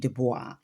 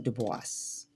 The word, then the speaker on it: Du Bois: correct way but anyway most of us do say uh web dubois or some who are of the intellectual sect those who are deep within the the African diaspora culture they usually say his name uh dubis like voice.